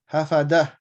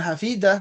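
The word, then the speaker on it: حفظة: Hafadah. Bukan hafidah. Kalau hafidah ini perempuan ya. Nih beda ya bacanya.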